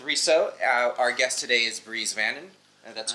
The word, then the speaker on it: Bries Vannon: Our guest today is Bries Vannon. That's correct. That's how you pronounce it.